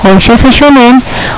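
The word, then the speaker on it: Hon Sha Ze Sho Nen: El seijiki se hace una vez y se pronuncia tres veces. Este también, honsha seishonen, honsha seishonen, honsha seishonen.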